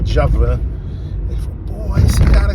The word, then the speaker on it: Djavan: Tem um cara que fala assim, chamou o Djavan de Djoban. Aí eu falei, não, a pronúncia é Djavan.